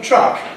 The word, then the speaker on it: truck: There's a railway track, track, track, and this lorry, this vehicle, which is called a truck.